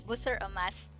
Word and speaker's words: Busur Emas: She's also the chairwoman of Busur Emas Foundation. Did I correctly pronounce, Ellen, the name? Almost. Yes, it's Busur Emas. Busur Emas Foundation.